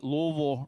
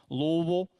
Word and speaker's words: Louisville: to say Louisville right, you have to act like there are marbles in your mouth. So Louisville is how you say that. It's not Louisville. They will just laugh at you if you say it like that.